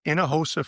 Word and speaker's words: Hinojosa: sure so we have a website um it's Inahosa family foundation uh all one word and uh my last name is spelled h i n o j osa it's